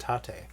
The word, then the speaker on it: Tate: People were giving me crap last time for my pronunciation of Tate, and it is actually pronounced Tate.